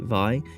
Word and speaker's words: Vay: Japanese pronunciation is like in vitality. Vi interesting.